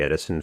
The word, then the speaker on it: Edison: It is a curious fact that in the Edison family, the pronunciation of the name has always been with the long E sound, as it would naturally be in the Dutch language.